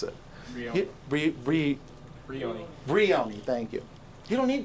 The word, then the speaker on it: Brioni: You don't need Baroni, yeah. I can't even pronounce it. Brioni, thank you.